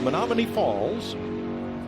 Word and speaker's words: Menomonee Falls: learned something today yeah and don't just say Menominee because because even if I pronounce it correctly it's on the other side of the state where Eagan Chase Elliot